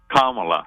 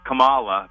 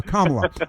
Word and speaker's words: Kamala: you better not say you better not say uh Camala because she gets really upset and so does uh